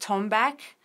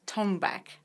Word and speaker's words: Tonbak: percussion instruments of Persian music and it's called tone back tio and bak that's how we pronounce it tone back some people pronounce that